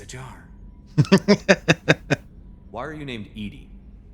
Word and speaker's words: Edie: Why are you named Edie? EDI is the phonetic pronunciation of EDI. That is an acronym for Enhanced Defense Intelligence.